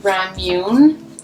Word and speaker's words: ramune: the next prompt is ramune um is how it's pronounced i think anyways it's if you